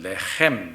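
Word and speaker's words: לחם: 어디죠 베들레헴이 그 베들레헴의 그 레헴이란 말이 원래를 발음은 레헤 이렇게 발음하는데 떡이란 말이야 이게 떡 빵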